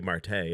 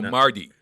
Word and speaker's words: Mardi: so great it's actually it's actually martay isn't it no marty m-a-r-d-i mark they pronounce that as a t marty learned martin lundy